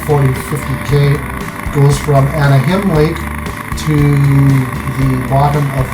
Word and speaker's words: Anahim: Not as Anaheim. Not Anaheim, John. I think it's Anaheim. It's ANAHIM, yeah. Okay, here we go again. They prefer to pronounce with the him on it because they get